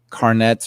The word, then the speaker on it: Carnets: We've talked about Carnets or Carnet. I think it's French pronunciation, I've been told.